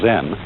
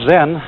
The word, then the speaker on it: Zen: c e n and that is the japanese way of pronouncing the chinese word chan and this in turn